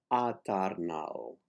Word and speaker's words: eternal: The next word, eternal, is eternal. The accent is on nal, eternal.